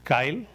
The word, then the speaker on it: CILE: islamic legislation and ethics its acronym we call it kyle c-i-l-a this is how we used to pronounce it and we work